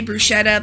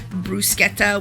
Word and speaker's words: bruschetta: top of our casserole I say brushetta because I'm from the South but most people say brusketta which is the correct Italian pronunciation but uh you're going